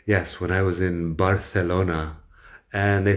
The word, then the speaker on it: Barcelona: But the Catalan pronunciation of Barcelona is more like Barcelona. The C is the S sound because they don't do the Spanish lisp. And the vowels are all a shorter vowel except for the O. So Barcelona is apparently how you're supposed to pronounce it, approximately.